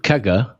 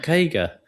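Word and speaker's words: CAGR: Hang on. Kaga. Kaga. Not kagger.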